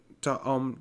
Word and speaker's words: ông: ấy ấy ấy ấy ông ấy ông ấy ông ấy ông ấy ông ấy ở đằng kia ông ấy ở đằng kia. He is pronounced with a mid-level tone. Ông and a rising tone.